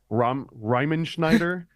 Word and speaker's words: Riemenschneider: 1492, one of these paintings, and the pronunciation of this guy's name is an absolute nightmare, but it's like Riemenschneider.